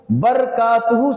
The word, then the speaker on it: برکاتہ: برکاتہ صحیح تلفظ نہیں ہوگا بلکہ برکاتہ۔ تو اسی لیے سلام